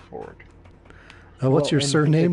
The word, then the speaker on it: Fjord: that his name's technically Fjord. Yep. He pronounces it Ford.